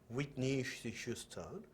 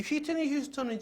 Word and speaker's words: 휘트니 휴스턴: 우리나라 발음으로는 휘트니 휴스턴이지만 아시죠? 그쪽의 발음에서는 휘트니 휴스턴이라고 그래요. 휘트니 휴스턴.